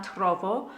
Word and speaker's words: trovo: So this is the same text, non la trovo, non la trovo. And this time our melody goes up, and again you lean on the trovo and come away from the next two parts of the syllable.